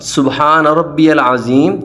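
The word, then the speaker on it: سبحان ربي العظيم: طرح ادا کرنا چاہیے۔ پہلے ہم اس کے تلفظ صحیح طرح ادا کریں گے، سبحان ربی العظیم۔ اب آپ میرے ساتھ مل کر پڑھیں، سبحان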